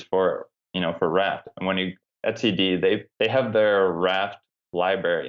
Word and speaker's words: etcd: Etcd. Is that how you pronounce Etcd?